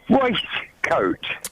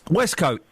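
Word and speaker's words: waistcoat: Waste coat. West Coat. Waste coat. West Coat. It's spelled W A I S T, which pronounces waste.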